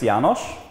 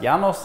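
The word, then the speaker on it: János: Okay, so my name is Janos, but you can pronounce it Janos, Janos, whatever you want, as long as I understand that you mean me.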